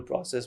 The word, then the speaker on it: process: And then, the editor goes through it, and there's this whole process which I learnt about. That's another word. So British English is process.